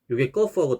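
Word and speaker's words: ق: 거프 경우에는 발음이 또 목구멍 소리입니다. 목구멍 인두 소리. 그래서 거프 좀 소리가 깊죠. 거프 우리나라에 없는 발음. 쌍기역하고 유사한 것 같지만 좀 다릅니다. 더 깊은 목구멍 소리입니다.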